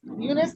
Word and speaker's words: Eunice: Eunice, am I pronouncing that right, Ashley?